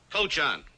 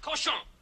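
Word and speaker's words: cochon: fit for man nor Coan better to spend the time killing the roaches in your plague ritten mistro than murdering my Rhymes the word is pronounced koson what's that oh that's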